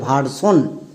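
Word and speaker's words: version: এন আছে তার আগে বানান করে নাও ভি এর জন্য ভই আর এর জন্য হয় আর তাহলে কি হল ভ প্লাস আর ভার এবার চলে আসো একদম শেষে এস আই ও এন এটা কি ওয়াট প্যাটেন এর জন্য কি হয় সন তাহলে সন বসিয়ে দাও এবার একসঙ্গে উচ্চারণ করো ভারসন সো এস আই ও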